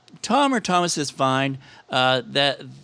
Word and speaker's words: Thom: Actually, it's Tom or Thomas is fine. That the odd thing is if you spell it out, Tom, it's THOM. So that's so it doesn't actually say Tom at all.